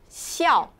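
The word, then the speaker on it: 孝: This character is called, it pronounced xiao.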